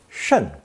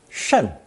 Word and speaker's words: 慎: This rarer character was later replaced by a heart radical with 真, pronounced fourth tone, 肾, 肾.